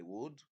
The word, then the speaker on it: would: The same applies to should and would. R is not a pronounced letter.